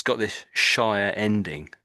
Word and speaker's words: shire: And you see it's got this Shia ending. Shia ending.